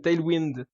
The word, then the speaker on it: Tailwind: Tu redis plus jamais Tailwind, d'accord? C'est Tailwind. Voilà, c'est pas compliqué.